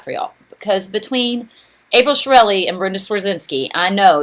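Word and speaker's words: Chiarelli: name is April Shirelli, but it doesn't sound like the way it's spelled. So let me give you my trick to remember me. It's Shirelli. It's like a chia pet, C-H-I-A, and then you just add Relli at the end, R-E-L-L-I.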